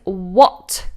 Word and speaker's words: what: This is an easy one for most people, but if you're new to this word, the H is silent. We just do w.